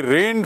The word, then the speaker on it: reign: He rained for almost 9 years. REIGN, टू रेन मतलब शासन करना, ये रिजाइन नहीं है, देखेंगे स्पेलिंग, रेन भी नहीं है, ये है रीन, REIGN, रीन्ड फॉर अबाउट